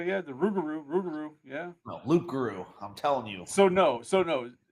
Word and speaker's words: loup-garou: It's the Loup-garou, but when Cajun people pronounce it, they pronounce it Rougarou. But it's actually Loup-garou, and it's French.